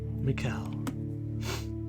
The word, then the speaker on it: Mikael: i want to though mikael mikel like the archangel okay so it is pronounced like michael the name suits you